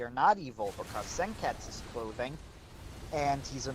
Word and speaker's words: Senketsu: It's actually Senketsu and the U is silent. And I said I watched the whole thing in sub. They are saying Senketsu. Very clearly saying Senketsu with 3 syllables.